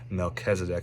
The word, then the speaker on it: Melchizedek: I know how to pronounce that one. So Melchizedek, he's actually referenced in the New Testament as well.